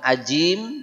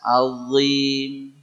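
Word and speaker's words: عظيم: Azim. Bukan ajim, bukan adim, bukan azim, azim. Ya, ujung lidahnya pastikan nempel di ujung gigi seri atas. Azim.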